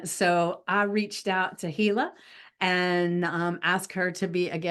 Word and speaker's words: Tehilla: So this wonderful lady right here is Tehilla.